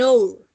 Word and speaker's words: hour: Entonces, en esta, an hour, ¿sí? La H no suena.